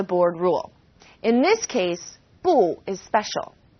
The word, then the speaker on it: 不: We have a tone alert for 不. When used on its own, 不 is fourth tone, 不. When 不 is used before another fourth tone, it becomes second tone, 不谢 or 不用谢.